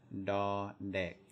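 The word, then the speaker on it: ด เด็ก: So the second one is da dek, da dek. It's just like we pronounce it almost exactly like a D in English.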